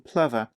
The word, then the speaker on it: Plover: I struggled with initially it's not pronounced as it's spelled golden Plover it's actually it's a bird and um has just it's pronounced golden Plover the name is a